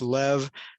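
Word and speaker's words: לב: creates the the word heart with a bait pronounced as a v sound so it's lev but then there's a mccafe there that ties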